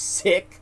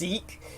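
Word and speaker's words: Sikh: spelled s i k it's not pronounced sick as many Americans pronounce it it's pronounced seik and um siks are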